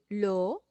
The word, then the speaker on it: l'eau: Son tres vocales, E, A, U. On prononce O.